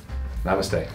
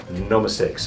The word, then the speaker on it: namaste: Namaste. Namaste. Namaste. Anyways, it's supposed to be namaste, but he doesn't know how to say it, so he goes, no mistakes.